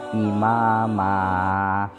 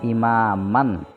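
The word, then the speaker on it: إماما: dibaca panjang Euro skeptis cara membacanya imama bukan Imam Man aslinya seperti itu tahu dibaca imama seperti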